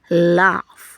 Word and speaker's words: laugh: Usually when you have your vowel, your short vowel, before the GH, it's going to take the letter F sound. Laugh.